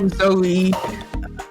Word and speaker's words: Zoe: You gotta pronounce the E. What's wrong with you? Zoe.